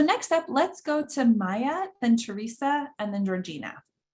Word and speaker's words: Maja: So next up, let's go to Maya, then Teresa, and then Georgina. Yeah, hi everyone. My name is Maya. It's spelled with a J, but it's pronounced like a Y.